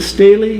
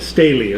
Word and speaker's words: Staheli: Next, we have Staheli. Staheli? Is it Staley? Is that how you say it? Staley, okay. They should change the spelling.